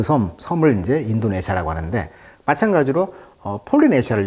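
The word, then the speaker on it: Polynesia: 그 섬을 이제 인도네시아라고 하는데 마찬가지로 폴리네시아를 영어식 발음은 이제 팔로니조라고 하죠. 강세가 여기 있어요. 팔로니지오.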